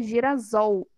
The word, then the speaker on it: Girassol: essa é apenas para manter a mesma fala mesma pronúncia não seria Girassol né se eu não colocasse 2s Mas lembra lá que a gente estudou os fonemas Eu tenho dois ésses mas é só um fonema e na composição por